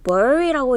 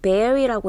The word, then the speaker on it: bury: 자, 9번에 요거는 읽는 방법이 특이하다고 했어요. bury라고 읽는 거 아니에요. bury라고 읽었었죠.